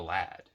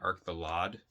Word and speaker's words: Arc the Lad: arc the lad which they kept pronouncing it arc the lod i'm pretty sure it's lad right like a old lad young lad i don't know that's how i've always thought it was pronounced but there's that one